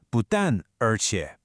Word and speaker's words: 不但而且: So this is the structure 不但而且, pronounced 不但而且.